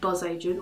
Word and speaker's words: Bzz Agent: you free stuff his websites called buzz agent or boos agian there's only like a buzzing bee that's how it's pronounced and basically and often